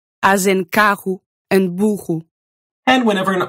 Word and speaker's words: carro: In the middle of words, when that R is doubled. As in carro and burro.